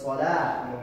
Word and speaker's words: صلاة: So it's salat, the wow is silent.